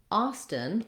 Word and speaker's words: Austin: t haunted haunted lastly austin also has first syllable stress and the ah vowel and i wrote it